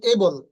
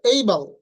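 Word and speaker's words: able: যেমন আমরা এটাকে বলি এবল, এটার উচ্চারণ হবে এইবল, এইবল, নট এবল, এবল।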